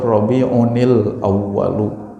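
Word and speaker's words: ربيع الأول: Kalau mau diwaqaf, mau diwasol, kalau ada tanwin bertemu dengan hamzah wasal, Rabi'unil Awwalu, Rabi'unis Tsani.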